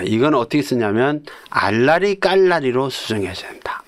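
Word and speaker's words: 알나리깔나리: 자, 이거는 어떻게 쓰냐면 알라리 깔라리로 수정해야 됩니다. 알. 그다음에 나 그니까 니언에다가 압니다. 예. 그냥 나이죠. 알 나리 깔나리. 우리가 발음은 알라리 깔라리 이렇게 되지만 표기는 알나리 깔나리.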